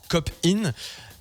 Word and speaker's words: KHopeIn: Alors ça s'appelle Cop-In. Pourquoi ce nom ? Qu'est-ce que ça veut dire ? Alors, littéralement, copine, il s'écrit K-O-P-I-N, parce que depuis plusieurs années, le K vient symboliser le cancer.